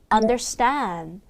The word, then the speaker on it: understand: 그다음 더스 이게 아니라 st 된 소리 넣어서 understand understand 어 여러분 이게